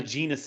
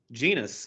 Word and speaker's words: Genus: So we had the Genius edition, not Genius, Genus.